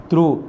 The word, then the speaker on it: through: That is the meaning of the through, THROUGH. Which is the silent letters here? GH is a silent. GH, both letters should be silent here in this word.